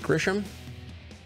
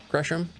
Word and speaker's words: Gresham: Is it Grisham? Gresham? Gresham. Gresham Avenue North.